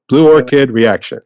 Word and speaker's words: Blue Orchid Reaction: I'm going to try to pronounce it right because I know I pronounced it Orchard originally, but it's Blue Orchid Reaction.